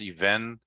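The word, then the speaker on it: אבן: before, but the even, it's spelled even, or it's pronounced even.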